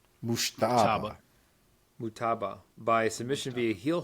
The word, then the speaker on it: Mujtaba: Mujtaba.